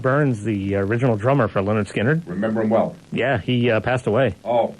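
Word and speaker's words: Lynyrd Skynyrd: he played on the first two albums uh pronounced Leonard skinnard and second helping uh he left the band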